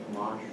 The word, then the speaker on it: homage: Homage. Okay, homage, okay? That's okay. You just gave the French pronunciation, I guess. But homage.